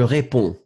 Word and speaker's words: réponds: Faites attention, DS, but you don't pronounce them. Hein. Je réponds.